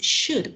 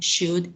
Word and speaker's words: should: So how is should pronounced? Which letter is silent?